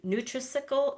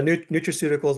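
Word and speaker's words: nutraceuticals: Neutriical. Neutricle. I can't say that word. Yeah. Neutrauticals, which is basically supplements, supplement science.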